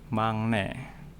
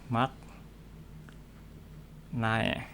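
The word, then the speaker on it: 막내: Misal ada mangne. Ini tulisannya ini mak nae. Itu artinya yang termuda atau bungsu. Ini kalau dibaca secara hurufnya maknae. Tapi kalau dibaca sesuai aturan pelafalan, dibacanya menjadi mangne, yang termuda.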